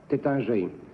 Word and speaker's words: Taittinger: Number 1, do you know Taittinger? Pardon? Taittinger. Yes. How do you pronounce it correctly? T-A-T-I-N-G-A-R. Number 3, how do you pronounce that correctly? Tétinger.